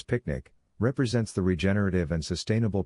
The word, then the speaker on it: PQNK: Superscript 1 PQNK, Peter Kradinizam Kashadakiari, pronounced as picnic, represents the regenerative and sustainable pristine organic farming system.